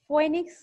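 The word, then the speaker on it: Phoenix: বৈজ্ঞানিক নাম পয়েনিক্স ডক্টাইলিফেরা ফনিক্স বা এটাকে উচ্চারণ করা যায় ফিনিক্স পি এইন আই ফিনিক্স ডটাইলিফেরা এটা কোন জাতীয়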